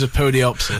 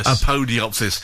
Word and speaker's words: Apodyopsis: then one of you the pronunciation is a podiopsis a podiopsis uh a fine name